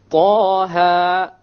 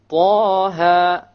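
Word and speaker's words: طه: Okay, both of them are two harakas long. So we pronounce it Taha, Taha.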